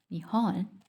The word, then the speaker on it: Nihon: Japan, pronounced Nihon, means origins of the sun.